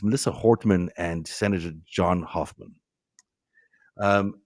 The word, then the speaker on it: Hortman: Um you know we're seeing this it's sorry I I misspelled I think I mispronounced the name. It's Melissa Hortman and Senator John Hoffman.